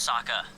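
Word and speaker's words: Sokka: be a forest again my name's Saka rhymes with aa aa Waka Waka Waka W waka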